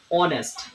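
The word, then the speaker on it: honest: অনেস্ট ঠিক honourable honourable. এই silent আছে যে শব্দ প্রথমতে সাইলেন্ট এ থাকি আর্টিকল ব্যবহার করা হয়।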